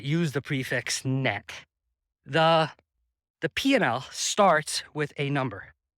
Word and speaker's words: P&L: It sounds like you're saying P, the letter N, L, but if people would just pronounce the D in and, it would sound like P and L, but everyone just says P&L.